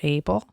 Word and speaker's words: Abel: can call him Abel his name is Abel mhm like are you able to come with me like able like that or cable rhymes with cable are you talking about